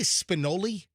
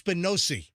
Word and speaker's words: spinosi: Uh, like my apparently I I said did I say spinoli? But then I said spinosi uh for one of the Italian pastas that I like for my Italotell. Uh, and he said, "Yeah, the first time I said it wrong and then he said the second time you got it right." All right. So, yeah, it's spinosi.